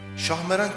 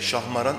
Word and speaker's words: Şahmeran: Şahmeran kelimesine çok benzeyen bir de şahmaran sözcüğü vardır ki bu ifade yılanların şahı anlamına gelir. Bu itibarla duanın ismini söylerken kesinlikle şahmaran ifadesi kullanılmamalı, şahmeran sözcüğünün doğru telaffuz edilmesine dikkat edilmelidir.